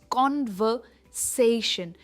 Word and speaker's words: conversation: ये है कॉन्वर्सेशन एंड नॉट कॉन्वर्सेशन, इट्स कॉन्वर्सेशन। यहाँ पर जो आर है हम इसे प्रोनाउंस नहीं करते।